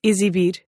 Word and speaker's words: exibir: There is one rule that it does seem to follow, which is that when it shows up in between two vowels at the beginning of a word, it sounds like z. Giving you words like exibir and exam.